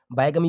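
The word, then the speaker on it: bigamy: देखिए यहाँ पर मैं जो प्रोनाउंसिएशन पढ़ रहा हूँ, जैसे कि यहाँ पे बिगमी पढ़ा, ये इसको बायगमी भी पढ़ते हैं, ठीक है?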